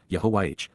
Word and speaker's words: Yahowah: Yahwa Yahwa, God's personal and proper name pronounced Yahwh based upon Haya to exist.